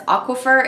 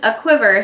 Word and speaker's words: A Quiver: that I had this I was pronouncing this aquafer in my mind but this is a quiver so like when something is trembling with excitement um okay so this